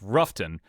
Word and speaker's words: Rutherford: koozie that has like it's pronounced Ruffton, but it has like five different potential pronunciations of of what is spelled Rutherford on the back.